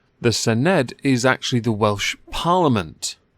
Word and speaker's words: Senedd: Welsh Assembly in the I believe it's pronounced Sen ed the Senedd is actually the Welsh